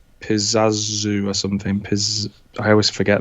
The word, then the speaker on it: Pazuzu: Is it Pizazu? Yeah. Pizazu. I'll give it to you. I don't really know how to say it anyway. Pazuzu? Is that how you say it? Pazuzu, yeah.